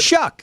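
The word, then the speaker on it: Shough: How do you say it? Shuck. Shuck? Like shucks? Shuck. Like shuck. Shuck. Like shucks. Like Bayou. Like shuck. Yeah, like that.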